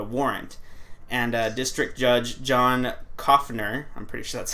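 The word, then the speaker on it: Coughenour: And District Judge John Koffner, I'm pretty sure that's how it's pronounced, because it's spelled like cough, like actual cough, and then N-E-R, or N-O-U-R, so. Yeah, Koffner.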